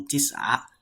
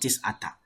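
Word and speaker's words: تسع: You see, the ta marbuta is there, so the ashara should also have ta marbuta. So Tis'a, not Tis'ata.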